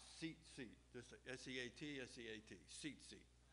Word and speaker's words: Tzitzit: the fringes the seat seats and it's actually uh spelled t-z-i-t-z-i-t and it sounds like it has a t but my understanding is it says it's pronounced seat this is s-e-a-t s-e-a-t